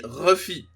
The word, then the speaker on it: Luffy: Par exemple, quand on lit Monkey D. Luffy littéralement dans son écriture en japonais, on lit Monkey D. Ruffy.